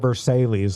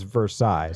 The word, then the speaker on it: Versailles: And he was like, "It's not Versailles like you're pronouncing it. It's Versailles."